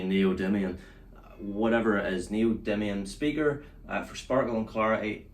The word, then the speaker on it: neodymium: Neodymium. Neodymium. There's all kinds of speaker nerds out there going now like, oh, they don't know how to say neodymium. Whatever it is, neodymium speaker for sparkle and clarity.